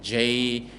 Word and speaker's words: genre: Genre as well, right? Genre, right? Genre. It's also from French, right?